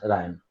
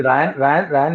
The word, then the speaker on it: rayon: So first is Ryan. Silk is रेयन a बोलते हैं actually. रायन international, वो तो स्कूल है, उसका प्रोनाउंसिएशन इसको बोलते हैं रेयन.